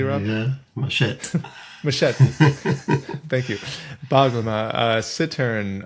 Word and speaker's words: machete: He plays classical guitar, jazz guitar, lute, theorbo, baroque guitar, vihuela, mandolin, banjo, ukulele, baroque guitar, machete. Am I pronouncing that correctly, Rob? Yeah, machete.